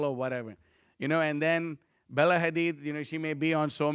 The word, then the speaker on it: Hadid: Bella Habib. Okay, that's how you say it? Hadid. Bella Hadid.